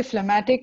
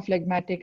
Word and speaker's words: phlegmatic: sanguine bilious and phlegmatic we can even say phlegmatic or phlegmatic either way the pronunciation is fine but yeah what is